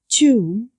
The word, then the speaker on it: tomb: Tomb, البي silent لا تلفظ.